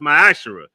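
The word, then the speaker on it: Ma'aser: and Malachi 3: 8-10 means 10th in the Hebrew and is pronounced my Asar 10% of every penny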